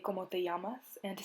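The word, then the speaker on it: llamas: respond with me amo it's not lamas or lamo it's yamas and yamo because the two l's next to each other make the y sound so if someone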